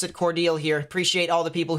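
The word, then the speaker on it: Cordele: are looking at here specifically and um it's pronounced cordial all right i'll pronounce it cordial here appreciate all the people who correct me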